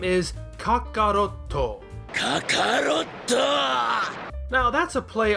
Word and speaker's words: Kakarotto: Toriyama changed that kya to ka, doubled it, and ended up with Kakarotto.